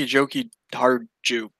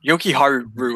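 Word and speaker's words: Jokiharju: I don't know, but Nick Schmaltz, Patrick Kane, and Henry Joki Harju. Whatever. Joki Haru, I feel like is how you say it, but there's a J there, and I feel weird not saying it.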